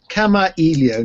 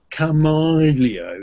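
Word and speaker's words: Kamailio: And yeah, for the Americans out there, that's Kamaio, none of this Camaleo.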